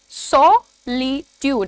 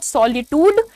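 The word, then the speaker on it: solitude: अब इसका मैंने प्रोनाउंसिएशन बहुत अलग तरीके से लिखा है, सॉलिट्यूड, सॉलिट्यूड। इट इज नॉट सॉलिट्यूड, इट इज सॉलिट्यूड। सॉलिट्यूड का मतलब होता है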